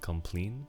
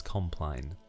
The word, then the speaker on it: compline: for the longest time I called compline complain because it sounded nicer to me it sounded more French the word looks French so I thought that was how to pronounce it but I've Googled it and apparently the British way is compline but anyway so the